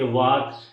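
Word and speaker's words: walk: जैसे CALM काम, WAL के वाक, TAL के टाक, यानी कि L के बाद जब भी कोई कंसोनेंट आता है तो W खामोश हो जाता है।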